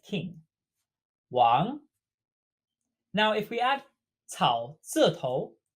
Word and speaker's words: 望: And it's pronounced the exact same as to forget.